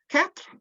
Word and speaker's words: quatre: Quatre looks like quarter, connection with 4 there, but the RE at the end is the other way around. So quatre, quatre, and there's no quarter, there's no R before the T.